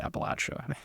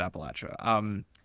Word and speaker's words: Appalachia: from, and I think most people in the region pronounce it Appalachia. That's how I say it. There's no right answer, but I will pronounce it Appalachia.